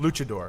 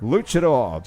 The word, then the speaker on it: luchador: I am a luchador is that how it's pronounced luchador luchador just a Mexican wrestler haha that's got everybody's